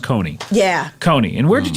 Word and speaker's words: Kconee: So Coney, but it's just pronounced Coney.